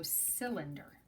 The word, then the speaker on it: cylinder: called a cylinder and it's with a soft C at the beginning so it's C then der so cylinder and the cylinder you